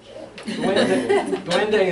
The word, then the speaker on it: duende: Duende is duende.